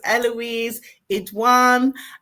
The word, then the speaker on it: Eloise Idoine: So it's Eloise Idoine. Have I pronounced your name properly?